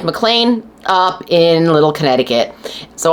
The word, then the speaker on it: McLean: have a mlan address and FYI it is pronounced mlan like John mlan on the Die Hard movies is not mlan like it is spelled I guess I don't